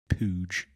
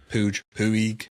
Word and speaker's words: Puig: Pooge. Puig. Twig. Like twig. That's not how they say it over here. We butcher everything in America, so they say Pooge.